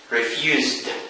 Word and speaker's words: refused: So to refuse, we say you refused. So this verb is pronounced refused. The sound.